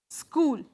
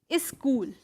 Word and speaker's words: school: So most of us pronounce it as is school or is. So this tendency of putting a vowel in front of a consonant. This is a this is a consonant cluster.